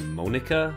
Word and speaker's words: Monika: That's not how you say my name at all. What? What is it? Monica.